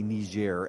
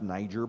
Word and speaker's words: Niger: Niger and I'm sorry I'm not gonna say knees Jer as some people on the media are intending that everyone should say I'm an American it's pronounced Niger by Americans I'm going to say it that way and that is they're